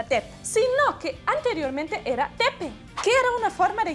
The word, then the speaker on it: Depp: escribimos con doble Play usamos dos consonantes en alemán para indicar que la vocal se pronuncia cortico un alemán leería con